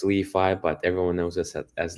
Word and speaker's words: LI.FI: Well, technically it's pronounced Leifi, but everyone knows us as LiFi.